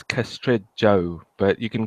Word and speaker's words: Castrejo: probably gonna butcher this a Castro huh it's castrate Joe but you can call me Carlos a caster